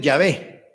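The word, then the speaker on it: Yahweh: quiere decir mi señor de hecho la pronunciación es llave entonces lo hicieron físicamente y unos le llaman ya ve y así lo escriben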